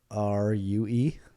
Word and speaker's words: rue: the day as well how do you spell it ru e ro e it's pronounced rue there are there is